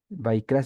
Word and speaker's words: ויקרא: es como en español sino Y entonces va vaikra significa y él llamó por qué los libros